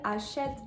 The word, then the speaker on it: achète: You'll also notice that the E at the end of achète and also at the end of costume are going to be silent as well, which brings us into